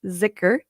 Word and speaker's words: Dhikr: One is called zikr, and it's spelled Dhikr, but it's pronounced zikr.